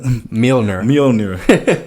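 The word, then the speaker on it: Mjölnir: How do you pronounce that? Mjolnir.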